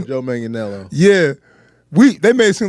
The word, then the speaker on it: Manganiello: Joe Manganiello.